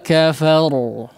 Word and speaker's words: وكفر: Baik, di sini huruf ra-nya dibaca tebal ya. Karena kondisinya sukun didahului oleh huruf yang berharakat fathah ya. Illa man tawalla wa kafar.